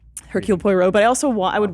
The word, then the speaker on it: Hercule Poirot: How do you pronounce his name? Hercule Poirot.